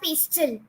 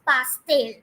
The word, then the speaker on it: pastel: So don't pronounce it as pastel. You don't have to say them as pastel colors, but it is pastel.